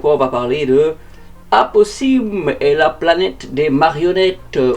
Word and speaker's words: Aposimz: On va parler de apoy et la planète des marionnettes. On peut aussi le prononcer Aposim si vous souhaitez faire exister le S dans ce nom.